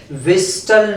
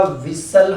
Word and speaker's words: whistle: विस्टल नहीं होता, विसल होता है।